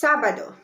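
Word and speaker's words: sábado: letter a so it's sabado it's one of the rule breakers that we have for three syllables that the the stress is on the first syllable it's sabado so it's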